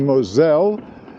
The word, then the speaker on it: Moselle: At any rate, so we booked a 8-day bike boat tour on the Saar, the Mosel, or if you prefer the French pronunciation, the Moselle, and Rhine rivers in July.